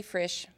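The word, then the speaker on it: Frisch: my name is frish my last name rhymes with fresh and it would be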